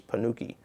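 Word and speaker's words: ponnuki: word for this formation is panuki phonetically in english p-o-n-n-u-k-i now it frequently happens that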